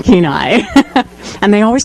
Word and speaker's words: Kenai: to the radio because you can always tell the new announcers by the way they pronounced the local place names like mental chick and Kenya it's an Anil chicken Kenai and they always call